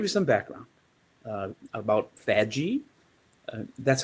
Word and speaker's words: FADGI: some background uh about faji that's how i pronounce it uh some pronounce that with a guttural g and then there's the iso 19264.